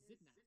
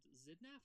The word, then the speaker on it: Xidnaf: Okay, Hello, my name is Xidnaf, pronounced Xidnaf. voiced alveolar, voiceless, labiodental fricative.